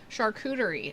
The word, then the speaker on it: charcuterie: make one for me charcuterie oh okay yeah i know i can't just don't am i saying it right it's like hooter it's got a cooter in there yeah charcuterie you know